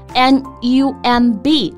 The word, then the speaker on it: numb: 原型是 numb, N-U-M-B, 但是大家要注意这个字母 B 是不发音的 numb.